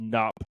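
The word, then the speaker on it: Knupp: me I I believe it's just nup the K is silent he's been an early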